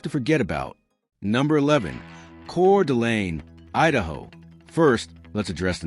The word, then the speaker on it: Coeur d'Alene: Number 11, Coeur d'Alene, Idaho. First, let's address the name. It's pronounced Coeur d'Alene.